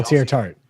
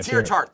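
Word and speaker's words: Teair Tart: I keep saying his name up, but Tartar, is that how you say it? Who got cut from the Dolphins, who we brought in? Oh, Tier Tart. Yeah, Tier Tart. Thank you. I knew I was saying it wrong.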